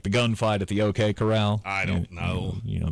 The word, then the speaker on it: Corral: Could be Golden Coral for all I know. It's not. It's not. It's the corral. It's like it's a cowboy term. Like the gunfight at the OK Corral.